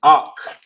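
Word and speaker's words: אח: that ah real simple brother is awk in the Hebrew that's how you pronounce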